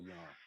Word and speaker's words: Jung: It's not Jung, it's Carl. That the pronunciation is Young.